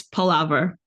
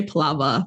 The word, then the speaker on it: palaver: I don't say it like it's spelled. I say it within my accent. So it's palaver, Oh, like okay. you said. Yeah, it's palaver. I say palava, but it's definitely your.